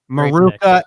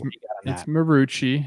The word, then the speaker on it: Marucci: It's Marucci. It's Marucci. I don't know why I said that. I got Maruka pizza in New Jersey that I go to. It's spelled the same way with an A at the end. So it threw me off.